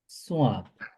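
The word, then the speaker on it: ص: এই লেটারটি আমরা কিভাবে প্রোনাউন্স করব? একই জায়গা থেকে যেভাবে আমরা সিন প্রোনাউন্স করছিলাম। হ্যাঁ, originate when the tip of the tongue touches behind the lower two front teeth.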